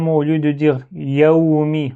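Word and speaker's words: يَوْمِ: Euh ce deuxième mot, au lieu de dire yaumi, on dit yaumi. Donc il faut bien articuler les actions ici. Ya et mi.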